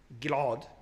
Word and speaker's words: Gilad: For example, as I said, Gilad becomes Gilad. Gilad is pronounced Gilad. Different pronunciation.